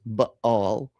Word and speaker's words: Baal: First of all, the correct pronunciation is Baal.